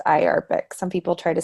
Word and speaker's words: IARPC: the interagency Arctic research Policy Committee and it's pronounced eye Arabic some people try to say I are PC I think it's easier to say I Arabic